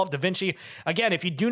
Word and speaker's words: Da Vinci: let you know this it's not pronounced d viny it's D Vinci so how is the correct way to say your name it is Da Vinci he was correct shout